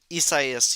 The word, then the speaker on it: Isaias: that was actually like really tracking was uh Isaias. How do you pronounce it? Isaias, you did that perfectly.